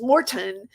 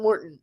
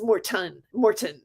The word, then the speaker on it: Morton: go in Morton because Morton, like Sean David, would say you have to make sure that you pronounce the T. It's not Morton, it's Morton.